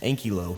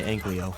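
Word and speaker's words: Ankylo: useful later on and yes I'm saying it correctly now ankyo it's a new game so there's a new me and I just got tired of you all flaming me for how I say anleo anyways after that I farmed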